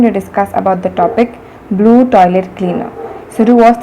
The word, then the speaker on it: Bloo: It is Blue, actually it is BLOO and not BLUE.